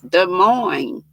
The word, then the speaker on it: Des Moines: in des moines iowa which looks like des moines but you don't pronounce the s's des moines and i got where